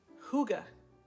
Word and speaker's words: hygge: a definition but again I'm not pronouncing it right it's actually hygge hy gge that's that's the tone for this evening it's when I say Higgy because I think it's more fun to say do you guys